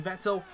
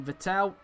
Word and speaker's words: Vettel: 14th place for the moment here is sebastian vettel making his way into the right left right chicane so through the the bus stop chicane there then goes sebastian vettel as they called him on itv back in